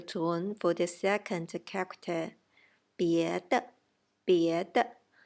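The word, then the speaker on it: 别的: 别的 neutral tone for the second character.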